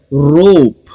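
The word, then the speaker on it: rope: letter है पी रोप ई को हम यहां पर प्रोनाउंस नहीं करते हैं लेकिन लिखते जरूर है क्योंकि यह स्पेलिंग रूल है सो रोप प्रोनंसिएशन में साउंड्स तीन है लेकिन लेटर्स चार रोप होप ओके अगला जो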